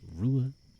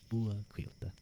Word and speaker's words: Ruadh: Of course, my name is pronounced Rua. Rua.